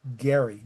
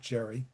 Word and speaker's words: Gerry: As a point of pronunciation, too, it is Elbridge Gerry, not Jerry.